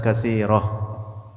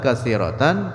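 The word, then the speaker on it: كَثِيرَةً: bagi Allah, nakunu asbatna alihatan katsirah, katsiratan, tan bacanya, nakunu, maka adalah kita, ini kata Mu'tazilah, asbatna, menetapkan oleh kita, alihatan katsiratan, akan Tuhan yang banyak.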